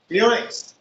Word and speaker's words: Filax: Thank you, Mr. Felix, pronounced Felix.